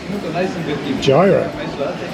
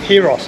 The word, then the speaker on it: gyros: And now we've got a gyro, or gyros as it's pronounced, spelt gyro if you're English, but pronounced gyros.